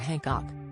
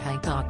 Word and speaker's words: Hancock: Carol joked, apparently, to say his name properly the Han is silent. Who knew? She also captioned her tweet, practicing saying Matt Hancock correctly. Apparently the Han in Hancock is silent.